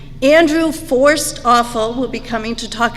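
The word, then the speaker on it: Forsthoefel: And Matt just informed me, his last name is pronounced the words forced and awful. Andrew Forced Awful will be coming to talk about his book, Walking to Listen, on Thursday, April 26th.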